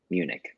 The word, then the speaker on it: Munich: Did I pronounce that right? Munich.